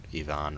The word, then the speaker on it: Ivan: in Ivan's backyard because or Ivon rather Ivan's not the proper way to say it's supposed to be ion but trogers can come